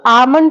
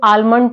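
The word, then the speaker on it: almond: एक वर्ड है आमन अब इसको बहुत सारे लोग आ आमंड पढ़ते हैं बहुत सारे लोग आलमंड पढ़ते हैं तो ये दोनों ही सही है इसको आलमंड भी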